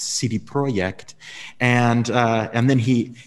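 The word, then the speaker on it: CD Projekt: and i said uh cd project and i don't know what that is and i repeated it because i remembered i'm saying it wrong it's cd project and uh and then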